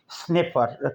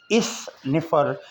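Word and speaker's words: sniffer: स्निफर पढ़ने के लिए अलिफ का इस्तेमाल नहीं करेंगे, इस निफर बोलेंगे तो गलत हो जाएगा। हल्का सा साइलेंट सी जैसे होता है, साइलेंट नहीं, ऐसा सी जो साकिन है, इस तरह की आवाज़ होगी।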